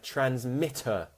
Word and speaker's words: transmitter: Transmit, transmission, shun, okay, and transmitter, mitter, schwa, because it's an sound, so we say mitter in British.